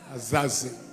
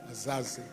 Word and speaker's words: Azazi: that is former General retired general Is it Azazi or Aziza? Please help me in the pronunciation. Huh? Is it Azazi? Azazi. Azazi.